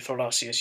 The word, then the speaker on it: Thorlacius: in the name Guðni Thorlacius Jóhannesson, the name of the current president of Iceland. It is, however, always pronounced as thorn.